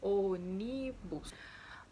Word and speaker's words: ônibus: é uma palavra proparoxítona, ou seja, a antepenúltima sílaba é forte, olhem aí, ônibus. A antepenúltima sílaba é forte, é tônica, portanto, ela é uma palavra proparoxítona.